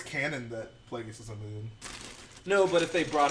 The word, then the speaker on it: Plagueis: He's a moon. Well, Pronounced moon. a moon. A moon. I always said moon, like Olivia Munn.